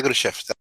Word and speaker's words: Khrushchev: Sí, disculpe, no lo pronuncié bien. Nikita Khrushchev.